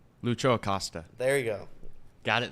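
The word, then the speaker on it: Lucho Acosta: their best player because Jimmy always says his name wrong Lucho aosta there you go got it this time does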